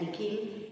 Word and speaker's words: Nikhil: When the principal pronounced Nikhil, he heard that the second portion sounded like heel, H-E-E-L, heel.